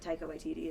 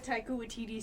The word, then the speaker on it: Taika Waititi: But apparently in some of the interviews that is it Taika Waititi?